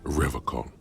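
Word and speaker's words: Revachol: to stay strong for revocal he pronounces rivercon with a hard K unlike other people I like to pronounce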